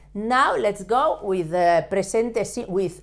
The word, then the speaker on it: presente: You have to pronounce the last E. In Spanish, we always pronounce all vowels.